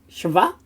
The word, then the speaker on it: shva: Then we have a shva, which is the sort of form that it takes to break the word up into its syllables. Sometimes with the shva, it can be a silent one. Often when it's the end of a syllable, or when it's the beginning, it is got an E sound, a short E sound after it.